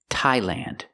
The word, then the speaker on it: Thailand: Also remember the TH doesn't make a th or th sound, it makes a real T.